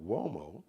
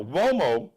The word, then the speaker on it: Uomo: Now Uomo sounds like it's spelled with maybe a W, like a what? W-O? No. It's an Italian surname, so it's U-O-M-O. U like umbrella, O like Oprah, M like Mary, O like opera, Uomo.